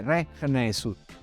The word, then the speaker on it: rekh nesut: Tutto insieme si legge Rech Nesut, conosciuto dal re.